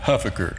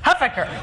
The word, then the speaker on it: Huffaker: And I pronounce it Huffaker. Huffaker.